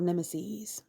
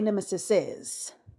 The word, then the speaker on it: nemeses: great number of nemeses and notice that I didn't say Nemesis says because that's not the correct pronunciation I look this [